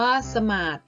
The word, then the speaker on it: สมาธิ: ทง สะ อิ ค่ะ เมื่อ อ่าน ออก เสียง แบบ ที่ 1 ออก เสียง ว่า สมาส หมาย ถึง การ นั่ง